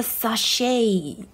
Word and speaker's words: sachet: 关系啊，所以 sh 是念 sh，OK，okay，不是念 ch。A sachet 啊，那个 t 哦没有发音。OK，next one。